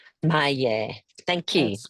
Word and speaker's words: Maie: No, my name is spelled M-A-I-E and it's Yes. pronounced Maie. Maya.